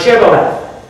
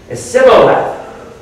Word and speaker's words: Shibboleth: And they said unto them, Say now Shibboleth. And he said, Sibboleth, for he could not frame or pronounce it right.